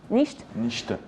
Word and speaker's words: Nichte: Donc Nicht, ça se prononce comme ça? Nicht.